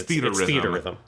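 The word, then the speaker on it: Theatrhythm: this because yes because I looked up how to pronounce it I remember you did and it's theater Rhythm it's theater Rhythm I'd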